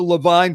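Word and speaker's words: Lavigne: This is the Levine family. Now, Levine is spelled L-A, actually capital L, small a, capital V-I-G-N-E.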